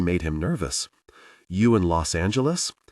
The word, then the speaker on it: Los Angeles: You in Los Angeles? He said it with a hard G.